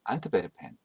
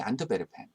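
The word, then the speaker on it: Antwerpen: 그래서 영어로는 플랜더스라고 부르지만 플랑드르라는 프랑스 말이 더 잘 알려져 있고 네덜란드 말로는 플란데렌이라고 읽습니다. 이 작품의 배경이 되는 도시도 영어로 엔트워프라고 부르지만 네덜란드 말로는 안트베르펜, 프랑스어로는 앙베르, 사실은 모두 같은 곳입니다.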